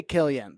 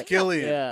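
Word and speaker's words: Cillian: I always say Killian. But it's Killian. It is. That's how they say it in Ireland.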